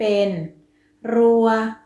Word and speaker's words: รั่ว: ไม่ มี รูป วรรณยุกต์ คำ ว่า รั่ว เป็น อักษร ต่ำ ผัน ด้วย วรรณยุกต์ เอก ดัง นั้น จะ ออก เสียง โทร คำ ว่า รั้ว เป็น